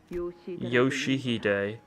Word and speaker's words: Yoshihide: Uh, Rio, no, that's not how you read those letters. Yoshihide, that's how you say it. Yoshu, it's prettier and easier.